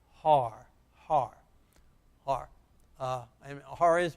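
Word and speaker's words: הר: The hey, the huh, the ah, and the r, all together. Let's read it together. Har, har.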